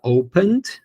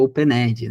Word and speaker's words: opened: Famoso open-ed, né? Só que a gente não fala open-ed, né? A gente fala opened, tá? O ezinho ali no final é mudo.